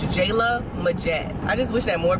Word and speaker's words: Jaelah Majette: particular name but a lot of people can't pronounce it it's jayla majette i just wish that more people could pronounce